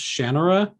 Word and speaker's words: Shannara: I guess technically it's pronounced Shannara, but I've always said Shannara, and that's how it is in my head.